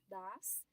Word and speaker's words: does: A gente vê que muda um pouquinho a pronúncia, né? Das. Abre um pouco mais o O.